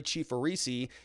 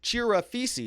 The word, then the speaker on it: Chirafisi: Mark Richards was there today, along with Corey Chifarisi. Chirafisi is how you say it.